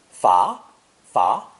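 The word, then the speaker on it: 罚: radical we see today this character is pronounced second tone far far that means to punish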